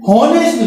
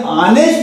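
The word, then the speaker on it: honest: इसको बहुत सारे ऐसा पढ़ते हैं हॉनेस्ट मैन, वास्तव में ये हॉनेस्ट मैन नहीं है, ये ऑनेस्ट है।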